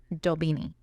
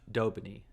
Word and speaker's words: d'Aubigny: beanie Julie de beanie dobini because it's French you say it kind of dobini dobini it's not dobony but I'm not gonna